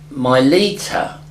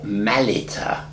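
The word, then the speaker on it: Mylitta: still spoken in Aramaic in the service now my liter or Malita as it should be pronounced was not the name but an Italian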